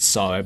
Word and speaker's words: Sara: Spelled Sarah, pronounced Sarah because it's the future.